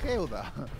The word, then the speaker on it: geoda: De geoda, con acento en la E. De geoda.